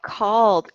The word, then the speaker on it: called: And finally, yes, I see that called. Called has a D sound.